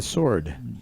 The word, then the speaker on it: sword: well it's like a sword sword you don't pronounce the ws warhead I don't I